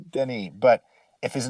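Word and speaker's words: Denis: his name was pronounced dennis i don't believe it is i believe it's pronounced denny but if his name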